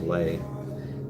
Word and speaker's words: Le: His name is Lay. He is Ellie. You spell his name L-E, and you pronounce it Lay, like L-A-Y.